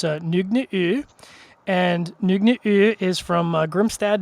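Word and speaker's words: Nøgne: And I'm going to try and do the pronunciation as best as I can because it is Norwegian. And it's Nogne.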